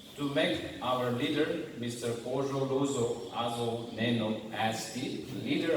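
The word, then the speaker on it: Kuzholuzo: He is known as Azo, but his name is Ojo Lozo.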